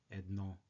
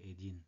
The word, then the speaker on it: един: And pay attention that we pronounce the masculine forms of 1 and 2, which are един and 2. So we don't say едно, but we say един, 11, 11, 11, 11,